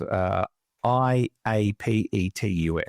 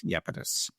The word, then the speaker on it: Iapetus: It starts with an I. It's spelled Iapetus, Iapetus.